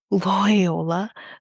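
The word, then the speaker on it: Loyola: As Ruben Keller, a professor at Loy Loy, okay, it's a it's spelled like Toyota but with an L, Lyola, there we go.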